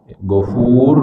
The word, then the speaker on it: Ghafur: Tapi kalau Ghafur kita membacanya dengan monyong, Ghafur gitu, ya itu beda maknanya, nuansanya beda.